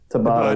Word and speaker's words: Tabata: Is Tabata, yeah.